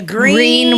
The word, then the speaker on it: Greene: The Green with a silent e on the end. So, G re e.